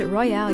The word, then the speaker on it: Royale: the Black Swamp and it's very important that there's an e a silent E on Grand and a silent E on Royale and a heavy metal a heavy metal o on the o of UK list that's Sher and Jason